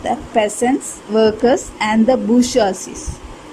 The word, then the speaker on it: bourgeoisie: So, the third estate consisted of the peasants, workers and the bourgeoisie. B-O-U-R-G-E-O-I-S-I-E. You should pronounce it as bourgeoisie.